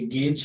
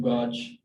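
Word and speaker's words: gauge: फिर ये गेज है, तो इसको गेज पढ़ने की कोशिश करते हैं स्टूडेंट्स अमूमन, और या इसको जो है वो यानी गाज पढ़ते हैं, स्क्रू गाज या स्क्रू गेज। तो फिजिक्स में एक टूल है, मेजरिंग डिवाइस है एक तरह की, तो ये बहरहाल इसको गेज पढ़ा जाता है।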